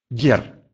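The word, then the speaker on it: gier: Может быть мягким. «Гер», «гер». Это от слова «игра», родительный падеж множественного числа слова «игра», «игр».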